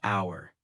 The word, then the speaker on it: hour: A common example is the silent H in the words hour or honest. For instance, I waited for an hour. The H is silent, so it sounds like hour.